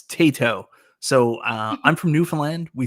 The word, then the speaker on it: Taito: So I apologize for saying Taito. I will try to remember Tato going forward. Tato.